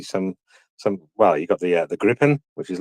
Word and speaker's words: Gripen: Yeah, Gripen. She's pronouncing it with the wrong R. You know, the Grip. It's R from the throat. Gripen.